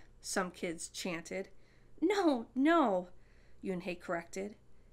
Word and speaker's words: Unhei: name a girl asked yunhei said yuen hey une the girl asked scrunching up her face some kids chanted no no you and hey corrected it's spelled u-n-h-e-i it's pronounced yoon hey